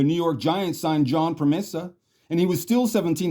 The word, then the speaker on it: Pramesa: It's pronounced Promesa.